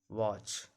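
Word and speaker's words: watch: क्या है ई एन है, तो टी का उच्चारण नहीं करेंगे। इसको पढ़ा था ऑफेन, वॉच, लिसन।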